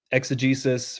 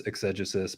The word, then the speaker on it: exegesis: Exegesis, which some people pronounce exegesis, but my scholarly accent is exegesis.